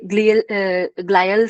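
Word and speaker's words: glial: इसके ग्लायल cells भी करके बोलते हैं, ग्लायल सेल्स भी बोलते हैं। ठीक है, ग्लियल सेल्स भी, ये भी प्रोनाउंसिएशन उसकी हो सकती है।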